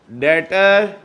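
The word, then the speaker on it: debtor: हुआ इधर आ जाओ डेटर हसन क्या हुआ डेबिट कितने से 15000 से डेट बोले आ सात क्रेडिट कौन हुआ रीड करें इसमें बी साइलेंट है बी साइलेंट है डेटर पढ़ो अच्छा गोरे की भी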